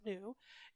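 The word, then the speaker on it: ν: to h times nu i know it looks like a v but we pronounce it new h is planck's constant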